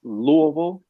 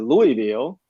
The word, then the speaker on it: Louisville: people uh finding out how to correctly pronounce louisville because in nashville we pronounced it louisville uh so that was